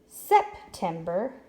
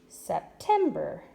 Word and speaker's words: September: say together perfect okay let's read that and see if we put the accent in the right spot September September that doesn't sound right let's erase and move the accent to the middle syllable September my birthday is in September that sounds better that is where it should be now look at both